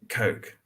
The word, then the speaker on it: Koch: Yeah, Koch, same way you spell it. Koch. Coke. There.